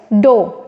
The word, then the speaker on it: dough: Next is, okay, now इट is important, DOUGH, it means और इट is pronounce as, सबसे पहले डो, ठीक है। GH will be not pronounce, ठीक है।